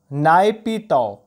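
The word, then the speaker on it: Naypyidaw: तो म्यांमार की अगर मैं बात करूं, म्यांमार की अगर बात करूं तो म्यांमार की कैपिटल इज नायपीताओ।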